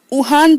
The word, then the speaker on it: Juan: यहाँ पर वुहान की जो स्पेलिंग है बेटा वो JUAN है ना। तो लेकिन उसे वुहान प्रोनाउंस करेंगे। ओके।